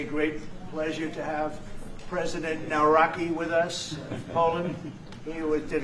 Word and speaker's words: Nawrocki: It's a great pleasure to have President Nawrocki with us of Poland.